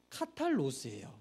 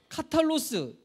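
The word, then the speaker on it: καθαρός: 헬러 달아놨는데, 그래서 이게 카탈로스, 이게 청결이라는 명사인데 이거를 형용사로 바꿀 때 카탈로이라고 하거든요. 이거 영어로는 P지만 이거 헬러 P가 아니에요. 이게 R 발음되는 건데, 그래서 여기서 이게 카탈로스가 파생되어서 카타르시스가 나오는 겁니다.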